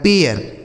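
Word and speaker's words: pair: ए आई are here P ए आई आर पी से हो गया दोस्तों प इस ए आई का उच्चारण ए हो गया आर से र लिखा गया पेयर समझ पा रहे हैं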